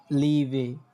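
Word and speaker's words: Liebe: তারপর দেখেন ই এ, ইয়ে, ইয়ে, তখন ওইটার উচ্চারণটা হয়ে যায় কি, যখন এটা শব্দের মধ্যে উচ্চারণটা করবেন লিভে, লিভে, হ্যাঁ।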